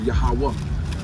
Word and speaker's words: Yahawah: But how you say it is in Hebrew, Yahawah.